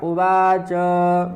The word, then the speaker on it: उवाच: धृतराष्ट्र उवाच, यह भी उवाच जो है चा का पूर्ण उच्चारण करना है।